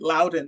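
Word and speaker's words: Loudoun: want to affirm that Lowden is the way it's pronounced it's where dullas airport is so if you don't know anything else you've probably heard of dullas airport so absolutely yes so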